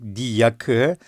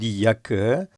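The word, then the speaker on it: die Jacke: Diakı j harfleri Türkçedeki j harfleri yot olarak okunuyordu. Diakı.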